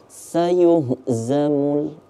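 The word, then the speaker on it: سَيُهْزَمُ: bakal berubah pemaknaan ya sini kita temu huruf sa sa biasa bukan tsa bukan pula Sya ya berarti kita bacanya sayuhzamul sayuh kita baca agak tebal Yuh karena itu ada huruf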